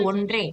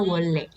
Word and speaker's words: 원래: Tulisannya wonre, dibacanya 원래.